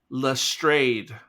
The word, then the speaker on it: Lestrade: Well, according to ChatGPT, Jesus, the pronunciation of that detective's name, the first syllable has an E like let, so it's le, and then it's a long A sound as in trade, so it's Lestrade.